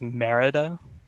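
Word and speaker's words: Mérida: answer um sorry that's incorrect the city is merida accent on the easter i forgot that city existed i've never been to spain uh so 15 points on 13.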